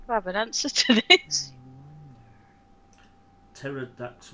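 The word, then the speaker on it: Pterrordax: Pterodax with a silent P.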